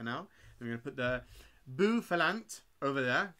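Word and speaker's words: Bouffalant: It's pronounced Bufalant. Bufalant. Oh, like Buffalo, got you.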